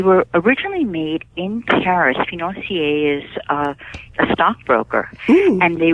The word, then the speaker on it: financier: And one that caught my eye real quickly is the matcha tea financier. Did I pronounce that correctly?